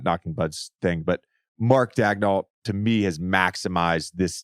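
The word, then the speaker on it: Daigneault: a press release where they said it's Mark dagdoll and then if you just Google how to pronounce Mark dagnell it's different it's a French pronunciation it's different it's a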